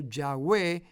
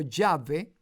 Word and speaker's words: Yahweh: esa pronunciación correcta y hoy podemos hablar acerca de Yah o Yahweh o Yahvé para referirnos al nombre del Señor. Y las malas interpretaciones o el desconocimiento hizo colocar el nombre Jehová en la escritura, que no es la manera correcta de pronunciar el nombre personal del Señor.